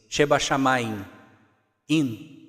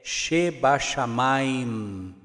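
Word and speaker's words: שבשמים: Se nós fôssemos ler ela no nosso português, nós iríamos ler ela mais ou menos assim, Sheba Shamayim, in. Só que quando nós lemos ela, a pronúncia correta no hebraico é Sheba Shamayim. Nós fechamos a boca nesse M final.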